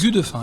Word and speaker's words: Gudefin: Gudefin, on prononce Gudefin, exactement.